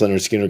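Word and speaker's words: Lynyrd Skynyrd: Southern band seriously um Leonard Skinner's debut pronounced leard Skinner came out the same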